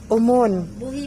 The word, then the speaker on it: Buhi: Pareho lang. Yung iba kasi sabi buhi. Paano yung pabigla kasi yung... Yung iba naman buhi. Depende sa accent na.